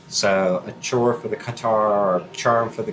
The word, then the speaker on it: catarrh: Another one, which I may not pronounce correctly, is catarrh.